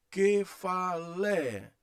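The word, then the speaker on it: κεφαλή: Isso, kefalé, kefalé, aliás, kefalé. Aqui é o epsilon, é uma vogal breve. Aqui, ó, tem o bráquia. Então é que, fa, olha aqui, ó, lé.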